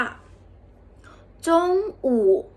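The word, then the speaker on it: 中午: จาก คำ ถัด ไป คำ นี้ จะ ออก เสียง ว่า จง อู่ จง อู่ แปล ว่า ตอน เที่ยง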